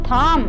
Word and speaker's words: thumb: The letter B is silent in the final MB. Comb. Thumb. Tom. Climb. Bomb.